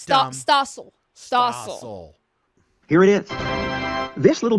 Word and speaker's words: Stossel: John Straussel, I think is his name. Yeah. I don't want to say it wrong because then everybody's going to call me a dummy. And I'm not dumb. Stossel.